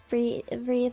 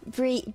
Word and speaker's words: breathe: How do you pronounce breathe again? Breathe. Breathe. Breathe. Breathe. Breathe. Breathe. Or is it breath? No, it's breathe.